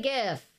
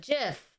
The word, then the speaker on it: GIF: i'm checking the poll how do you say gif if har g like good jiff like jelly all right i voted